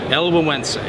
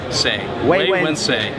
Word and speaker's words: Güegüense: Güegüense. Correcto. Güegüense. We say way, when, say. Güegüense.